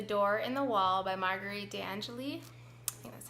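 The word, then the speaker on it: Marguerite de Angeli: book here the door in the wall by Marguerite Anjali that's how you say it and this was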